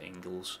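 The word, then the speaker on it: Engels: By the way, I know he's it's pronounced Engles, but I call him the jails.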